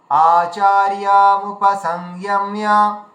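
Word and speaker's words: আচার্যমুপসঙ্গম্য: মুপসংগম্য, মুপসংযম্য, মুপসংযম্য, মিয়া মিয়া ম জ ফলা আছে, তাহলে মিয়া এভাবে উচ্চারণ হবে। আচার্য মুপসংযম্য, আচার্য, এই যে আচার্য আর মুপসংগম্য এই দুটোকে আলাদা আলাদা করে ভেঙে উচ্চারণ করবেন, তাহলে সুবিধা হবে।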